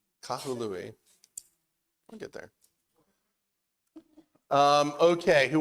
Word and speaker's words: Kahului: So there's 3 consonants, three syllables. Kahului.